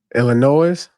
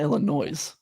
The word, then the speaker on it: Illinois: I've gotten a note on Twitter that you need to stop pronouncing the S in Illinois. Illinois? It's not Illinois.